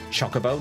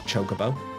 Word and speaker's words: Chocobo: Um, it's Chocobo, not Chocoo.